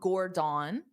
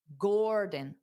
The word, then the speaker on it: Gordon: So it's not Gordon. That's not how you say his name. It's dada. Gordon.